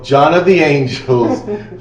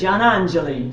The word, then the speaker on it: Giannangeli: We have Cecile, John of the Angels from Antinori. That is the anglicized way to say her name, but I had trouble pronouncing it. Giannangeli.